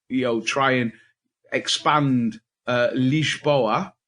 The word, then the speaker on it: Lisboa: know I've been to it's called leash boa we have to pronounce it in Portuguese weightless bro and not lisboa which is Portuguese for Lisbon which is the capital of Portugal no less and I've